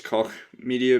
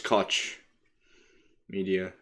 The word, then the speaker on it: Koch Media: For a while, I used to mispronounce it as Koch Media because of Heckler and Koch. You know what I mean, like the gun company, but no, it's Koch Media.